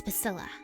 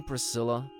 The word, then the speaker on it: Priscilla: you must know it's Priscilla are you sure you don't mean prisilla do I look like the kind of person who can't correctly pronounce their own name it's Villa what's your name smarty